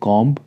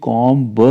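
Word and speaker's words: comb: और एग्जांपल लेते हैं कॉम सी ओ एम बी इसको कॉम ब नहीं बोलेंगे कॉम आप ज देख सकते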